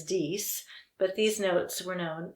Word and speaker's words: dix: is french for ten the french pronunciation is dies but these notes were